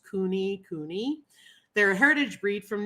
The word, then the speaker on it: kunekune: history on kunikuni pigs obviously you know they're pronounced Cooney Cooney they're a Heritage breed